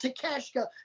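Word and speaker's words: Takeshita: attempt to say it i know his last name is pronounced takashka because i butchered it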